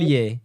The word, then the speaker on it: Montpellier: Montpellier? Am I pronouncing it? Montpellier, yeah, Montpellier.